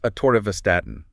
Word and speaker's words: Atorvastatin: Okay, next up, another cornerstone in cardiovascular health, Atorvastatin, Atorvastatin, pronounced Atorvastatin, and the brand name is Lipitor.